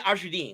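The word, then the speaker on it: Azharuddin: It's Mohammed Azruddin, excuse me.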